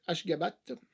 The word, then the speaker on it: Ashgabat: URSS, voilà, la prononciation c'est Ashgabat, si je le prononce bien, 7,3.